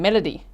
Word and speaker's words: Melodee: Okay, so Melo D, that's her name. Melody, spelled like Melo D.